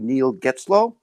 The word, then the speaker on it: Neil Getzlow: Neil Getzlow. I believe I pronounced that correctly.